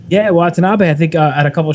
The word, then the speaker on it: Watanabe: and iwgp heavyweight champion as uh i'm gonna butcher the name what was it uh watanabe right that is correct yeah watanabe i think at a couple shows in the